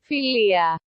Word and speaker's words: philia: than with the word philia or as the greeks pronounce it philia philia philia philia philia